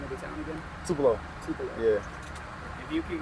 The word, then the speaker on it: Tupelo: Can you pronounce the name of the town again? Tupelo.